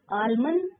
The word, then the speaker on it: almond: Almond L silent.